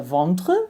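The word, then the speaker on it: vendre: verb vantra to sell so this is the one where we have that silent e at the end that is really not necessary I underlined it here for you to see you get rid of it and you're going to keep the vontre right so the v-e-n-d-r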